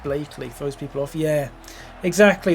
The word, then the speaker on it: Blackley: Anyone from outside the area would say Blackley, but it's pronounced Blakeley.